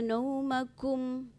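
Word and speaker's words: نَوْمَكُمْ: Waja'alna naumakum. Kum itu jangan ditebalkan. Kum itu bukan ko ya. Tadi diucapkan huruf ko.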